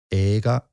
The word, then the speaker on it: 映画: How do you pronounce movie in Japanese? 映画. 映画.